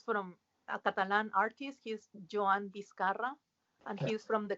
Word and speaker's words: Joan: is uh she's from a catalan artist he's joanne discara and he's from the comic ah okay yeah he's using airbrush yeah yes okay cool uh how do you say that name one more time is it juan juan is catalan johan j o a j